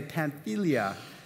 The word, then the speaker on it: Pamphylia: Yes, this is how you say Pamphylia.